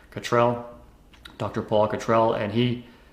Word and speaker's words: Cottrell: cotrol Cottrell actually is the pronunciation Cottrell dr.